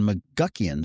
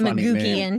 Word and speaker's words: McGuckian: Creative, which is on McGuckian Street. Mm-hmm. Did I pronounce that right? Yes. Correct. Yep. Some people say McGuckian.